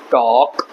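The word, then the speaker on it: talk: आप सारे वर्ड्स में एल साइलेंट होता है। इसको बोलेंगे शुड, इसको बोलेंगे वॉक, टॉक, हाफ, काम।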